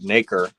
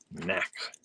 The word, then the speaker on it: nacre: I'm gonna try and get that right. Nacre. Knack. Beautiful nacre. Practicing the wrong way.